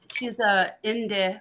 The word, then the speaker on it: Inde: This whole thing with the Native Americans, you know, because one of my very closest friends, she's a Inde, which is what we now call, what Europeans call Apache.